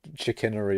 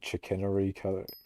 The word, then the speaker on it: chicanery: my mining speed boost I can't say chickenery or whatever the it's called is it chickenery I think I might have pronounced it right this time it may have actually pronounced it right maybe I don't know say chicanery you haven't